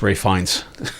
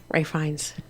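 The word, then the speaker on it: Ralph Fiennes: That's Ray Fines. Fines. It says Fiennis. Yeah, it's but you pronounce it fine. And you pronounce Ralph as Ray. Ray Fines.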